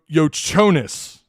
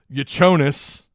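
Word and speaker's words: Jakučionis: they have this cat this dude's last name has been pronounced like three different ways I think it's casparus uh yo yonis yanis it's spelled j a k u c IO n i but I think it's pronounced y yonis sounds like a slur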